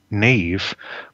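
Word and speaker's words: Niamh: but I also have a god daughter in this part of the world called Nave but it's spelled for the benefit Australians NE a v which annoys me no end because the correct spelling is n a n i a m h so I get very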